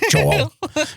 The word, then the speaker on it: Joel: And sometime and when I can always tell when she's like correcting me or mad at me cuz my name Joel becomes two syllables. Joel.